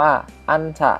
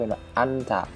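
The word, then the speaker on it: 앉다: อึน ฉืด นะ ครับ นิ อึน ฉืด ก็ คือ ออก เสียง เป็น แม่ กล หรือ หน หนู ก็ ได้ เป็น อันถะ อันถะ นะ ครับ ต่อ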